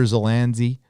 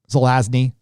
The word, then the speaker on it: Zelazny: uh uh i'm a big fan of roger zelanzi zelazny i always get his name wrong um the nine princes of amber that